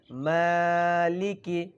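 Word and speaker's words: مَالِكِ: ওই পরিমাণে আওয়াজ করবেন মা বলি নাই বলছি মালিকি খেয়াল করেন আর জবরের উচ্চারণ গুলো সকলে তাড়াতাড়ি উচ্চারিত করবেন মালিকি বলি নাই বলছি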